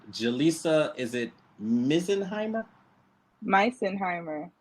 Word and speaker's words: Misenheimer: Misenheimer. Misenheimer.